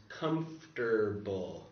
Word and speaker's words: comfortable: So here's my pronunciation is comfortable. Yeah. Comfortable. Which if you look at the spelling here, C-O-M-F-O, so this O goes away in the pronunciation.